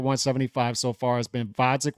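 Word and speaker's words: Gvozdyk: The truth of the matter is his only fight at 175 so far has been Vodzik with a silent G.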